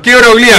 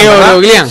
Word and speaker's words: Keoroglian: Lo pronunciamos bien. Queroglián. Queroglián.